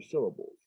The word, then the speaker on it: syllable: So when we have syllable, syll is the one that's got the most stress. Syllable. The other two, syllable. And bull are not stressed.